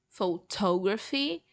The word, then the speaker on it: photography: to do with photos, but they have different stress syllables. So photograph, photography, and photographic.